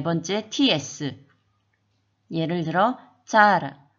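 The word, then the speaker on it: tsara: 그 다음 네 번째 TS 예를 들어 짜라 완전 차도 아니고 우리나라 발음의 짜도 아닌 중간 정도라고 생각하면 되는데요. 짜라 그 다음 다섯 번째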